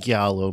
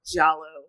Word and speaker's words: giallo: Yeah, probably the most well-known Giallo movie. Or Giallo. I don't know if it's a hard G or a soft G. Giallo.